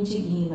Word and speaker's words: indigno: Então, na verdade, não é eu me indigno, é eu me indigno.